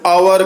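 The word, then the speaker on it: hour: है एन यूज करेंगे अवर यहां एच साइलेंट रहता है इसलिए इसका प्रोनंसिएशन अवर करेंगे तो आ आ रहा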